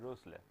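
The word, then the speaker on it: Rössler: This is the German pronunciation it's pronounced as the Rossler. You will have to make your mouth look like as if you are trying to pronounce o but you will actually pronounce e.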